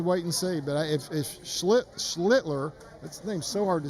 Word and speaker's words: Schlittler: Yeah, I've heard him say Schlittler is how they say it, so that's how I'm calling it. Yeah, Schlittler.